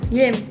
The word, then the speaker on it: Guilhem: Ça se prononce Guilhem. Guilhem.